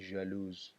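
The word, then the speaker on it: jalouse: ولې که بیا مؤنث لپاره موږ سره دی، هغه تلفظ کېږي ژالوز، ژالوز، صحیح دی، ژالوز، صحیح دی. سپلنګ کې هم لږ فرق راغلی.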